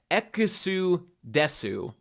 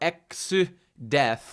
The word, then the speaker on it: Exdeath: So you could literally pronounce this Exudesu, or Exudeth, because you say death, desu, in Japanese sometimes.